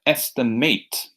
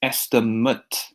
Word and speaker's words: estimate: Sometimes we have a noun with the same spelling, but its pronunciation is different. When we're using it in a verb, we have estimate. When we're using it as a noun, it's estimate.